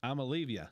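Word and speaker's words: Iamaleava: A said, if you if you pronounce it phonetically, it's I'mma leave you.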